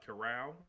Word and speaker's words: Corral: the kid's name uh corral am i saying that right matt curl yes matt coral that's how you say it matt another electric qb